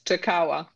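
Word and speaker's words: Jakała: oh okay it's by jakala which is pronounced differently from it spelled thank you it's takawa oh sorry I should know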